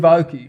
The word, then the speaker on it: Aoki: Steve Aoki. Aoki.